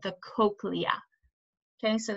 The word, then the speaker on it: cochlea: That's called the cochlea. Okay, so this is pronounced cochlea or cochlea, but usually people say cochlea.